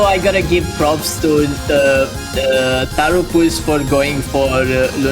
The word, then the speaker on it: Tapxynyc: I'm gonna give pronouncing the player name one more try. Tarapus? Is that accurate enough, Roby? Tarupus.